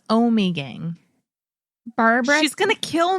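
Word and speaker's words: Ommegang: We say Omgang. Now, I think it's Omegang. Barbara. She's going to kill me. Barb, please don't kill us. It's Omegang.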